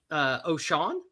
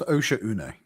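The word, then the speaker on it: Oshaune: Complete an entire difficulty 10 operation on Oshan, I believe is how you would say that. It's pronounced Osha Une.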